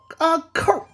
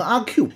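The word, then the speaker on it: 阿扣: 啊，她叫阿扣。真不好念呀，念不好就容易念成阿 Q。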